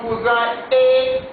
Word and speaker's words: cousine: Attention, il y a une différence entre la prononciation cousin et cousine. Ici, parce qu'il y a une lettre E ici, je prononce ce mot comme cousine. Mais ici, parce qu'il n'y a pas la lettre E, je prononce le mot comme cousin.